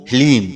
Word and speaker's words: ह्लीम: ओम ह्लीम। जी हाँ मित्रों, मंत्र को एक बार आप फिर से ध्यान से सुनिए। ओम ह्लीम, इसमें हा, ला और बड़ी ई की मात्रा और अंक की बिंदी।